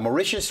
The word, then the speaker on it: Mauritius: I would say that Mauritius rhymes with vicious, and there's a reason for that.